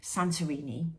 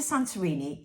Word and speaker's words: Santorini: So on Monday, I'm taking, me and my 3 daughters are going off to Santorini in Greece.